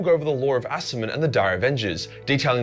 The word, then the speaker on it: Asurmen: Asurmen.